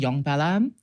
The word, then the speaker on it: Nyongbella: To be fair, it's actually Nyongbella. Oh. Yeah, that's like the actual proper like cultural pronunciation.